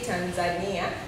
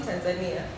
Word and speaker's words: Tanzania: I say Tanzania. In Swahili, we pronounce it Tanzania. Tanzania. You don't have to change. Just the pronunciation.